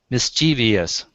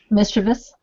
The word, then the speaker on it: mischievous: say that's not wrong mischievious Karen's thinking Barbara's I know how to say it say it mischievous that's correct and uh the the word is mischievous three syllables and just you know